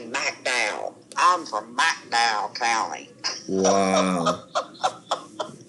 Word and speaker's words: McDowell: So, well, that's down there in McDowell, and they don't say McDowell. It's spelled McDowell. They say McDowell.